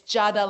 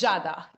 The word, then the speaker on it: Giada: I in the names, but in Italian is like we don't pronounce the I in the name. It's Giada, like it would be like with a J, like Jada Pinkett Smith, Oh, the actress. Yeah, it's the same, but the Italian version, we pronounce the J with a G I.